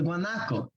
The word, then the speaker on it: Guanaco: Or also how to pronounce the first word. Guanaco binge.